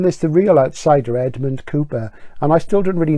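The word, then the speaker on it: Cowper: favorite then um Richard cper pronounced Cooper that's copr and I'm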